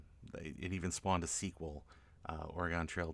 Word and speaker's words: Oregon: Oregano. I guess it's just wherever you're from, is how you pronounce it. But probably Oregon would probably be the most appropriate pronunciation around these parts.